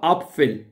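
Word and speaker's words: Apfel: अपफिल क्या पढ़ना, एप्पल नहीं पढ़ना, आ अपफिल। अपफिल सही है, सेब।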